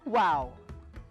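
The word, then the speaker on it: wau: uniquely designed malaysian kite its wings are similar to an arabic letter pronounced as wow now for the last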